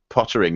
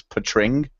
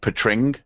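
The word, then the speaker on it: Poettering: about pronouncing his name and apparently it's not Pottering. It's Patring is how you pronounce it. Like Patring apparently is how he pronounces it.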